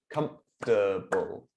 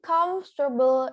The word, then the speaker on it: comfortable: This time our adjective, comfortable. Comfortable. Comfortable. 3 syllables. What do we do? So comfortable is 3 syllable, not comfortable.